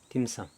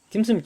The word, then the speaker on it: 딤섬: 그가 중국의 저 남쪽 광동 지방에서는 딤섬이라고 읽습니다 여러분들 딤섬 좋아하죠 딤섬 딤섬 집에 가면 뭐가 있나요